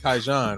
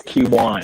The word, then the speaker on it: Kiwan: Kaijan, right? Say it for me. It's Kiwan. Kiwan.